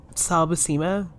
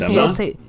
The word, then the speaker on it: Buscema: Okay, well, if it was a CH, then it would be Buscema, but it's not, so it'd be Bushima or Bushema.